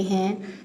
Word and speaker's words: who: इसके स्पेलिंग है WHO, लेकिन यहाँ पे W जो है वो साइलेंट है, इसको हु पढ़ते हैं, हु।